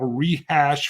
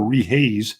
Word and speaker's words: Rehash: Billy Boy 9 commented on my sister's channel, Rehash Fiber. Oh, yeah. I said it right this time instead of Rehaze.